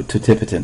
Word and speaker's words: totipotent: first several divisions, we talk about them as being totipotent or totipotent, although totipotent, I think, is the more appropriate pronunciation of these stem cells.